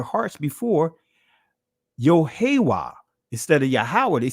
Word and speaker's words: Yahweh: I know I say Yahweh, which is the proper ancient pronunciation.